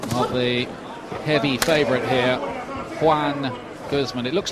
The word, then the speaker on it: Joan: the heavy favorite here Juan Gman it looks like Joan Gman when you look at the name on paper but it's pronounced Juan just as well for